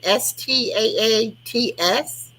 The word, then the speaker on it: Staats: Staats. It's like stats, but with 2 A's.